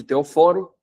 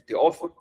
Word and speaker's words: Teóforo: A princípio, ele era chamado de Teoforo, posteriormente, Jerônimo vai chamar ele de Teóforo. Isso é uma mudança sutil, mas que muda, simplesmente você mudar, né, a sílaba tônica já muda o significado.